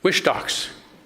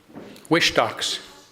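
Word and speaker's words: Whistalks: Wishtocks. Wishtocks. Yeah. Yeah. What do I say? W It's It's It's W H I S T A L K S. You want to say wish, but it's Wishtocks.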